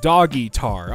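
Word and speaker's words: Dogguitar: but wasps no die dog guitar pronounced doggar oh my bad pet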